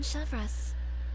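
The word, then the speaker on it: Chevreuse: I know their Captain Chevres. Oh, Chevres, okay, that's how you pronounce it.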